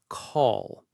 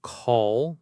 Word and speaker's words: call: Say the word call slowly. Call. Do you feel that? As you get to the L sound, the back of your tongue tenses up and pulls back a little bit in your throat.